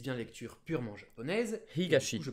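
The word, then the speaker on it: 東: Higashi. Et du coup, je prononce ça higashi. Higashi.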